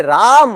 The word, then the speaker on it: राम: Okay, हरे रामा, रामा रामा, हरे हरे, हरे रामो, ऐसा नहीं है. वो जीपीसी स्टैंडर्ड के हिसाब से हरे राम, हरे राम, राम राम, हरे हरे, वो अलग ही मंत्र चल रहा है।